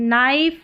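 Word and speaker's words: knife: है वो साइलेंट है नंबर 14 पर है के एन के एन एन को न करके पढ़ा है एन को न करके पढ़ा है एन यहां पर के यहां पर साइलेंट है।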